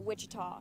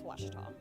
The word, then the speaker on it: Ouachita: at a baptist university back in texas everybody pronounces it wichita but really it's ouachita washington washington how would you pronounce it it's